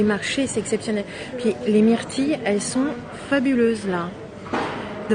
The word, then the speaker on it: myrtilles: Puis les myrtilles, elles sont fabuleuses là.